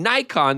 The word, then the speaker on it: Nikon: This is a Japanese guy saying Nikon the American way because he appreciates that North Americans say it differently.